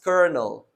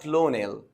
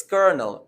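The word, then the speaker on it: colonel: while reading it so the word is pronounced as kernel kernel not clonel it's kernel and a kernel refers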